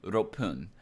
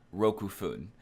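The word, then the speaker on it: 六分: you had 6 minutes then it'd be rope poon not Roku food that is not correct it's rope poon it's actually kind of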